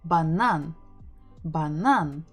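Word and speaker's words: банан: with easy ones stressing the final syllable banan so let's figure out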